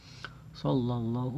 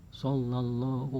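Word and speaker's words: صَلَّى اللهُ: Ada tasdid ya, ingat ada tasdid, ada domah nih, hu, sallallahu.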